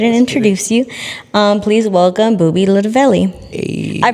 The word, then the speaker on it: Boobie Lootaveli: Please welcome Boobie Lootaveli. Hey. I pronounced that correctly, right?